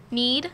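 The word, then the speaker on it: knead: What word beginning with a silent K means to squeeze, roll, fold, and press with the hands? Becker, Genevieve? Need.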